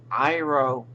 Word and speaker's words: Iroh: It's Iroh with an I, not an E. This, that's not an E. That's an I.